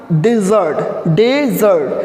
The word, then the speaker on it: desert: Okay, next देखो यहाँ पे समझना, this one इज डेजर्ट, this one इज डिजर्ट।